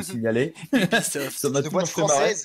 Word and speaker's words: Ubisoft: Mais parle-nous un petit peu de ce Ubisoft de manière générale déjà, en attendant. Alors, moi déjà, ça me fait beaucoup rire que tu dises Ubisoft. Oui. Je tiens à signaler. Ubisoft.